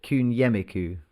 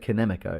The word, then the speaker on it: Kunyemiku: So you pronounce it Kunyemiku. Kunyemiku. You weren't far off. You weren't far off. I was way off. I said Kinemiko. It's Kunyemiku. If every single person who